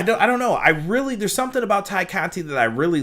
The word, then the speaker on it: Tay Conti: In all of this, Tay Conti, her focus is... excuse me, I shouldn't say Tay, it's Ty. Ty Conti is how they kept pronouncing it.